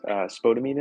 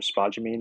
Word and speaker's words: spodumene: This particular glaze that we're talking about has spodumene in it, or spodumene, I guess is the right pronunciation, which is a lithium-based flux, which means that it's expensive at this point.